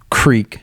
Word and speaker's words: creek: yeah say Creek yeah most people say Creek yeah I when say the word it's Crick yeah that hurt you coming